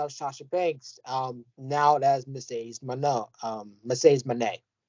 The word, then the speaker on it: Moné: Now that's Mercedes Moné. Mercedes Moné, not Moné. I can't pronouncing shit wrong today, y'all.